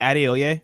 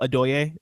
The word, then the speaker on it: Adeoye: So like it's pronounced Adeoye, but I tell people Adoye just because it's like less syllables, just so it's Hmm.